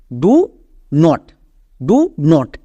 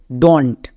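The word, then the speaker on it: don't: এখানে আমাদের দুটো ওয়ার্ড আছে, ডু নট, এদেরকে একসঙ্গে উচ্চারণ করা হয় উপরেরটা, মানে এখানকার ওটা উঠে যায়, এর উচ্চারণটা হয়ে যায় ডন্ট। বোঝা গেল? তাহলে আমরা এর উচ্চারণটা কী করবো? ডন্ট, ডু নট না। আমরা যদি এরকম ওয়ার্ড দেখতে পাই উচ্চারণ করব ডন্ট।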